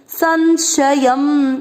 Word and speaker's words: संशयम: संशयम इस शब्द पर ध्यान देना है, स और श में, इसको बोलते हैं संशयम, संशयम।